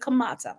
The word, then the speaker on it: Kemet: ancient Egypt or ancient Kemet, or some people not pronounce it Kamata, right?